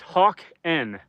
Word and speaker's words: Hakan: Hakan says, "It's actually pronounced hawken."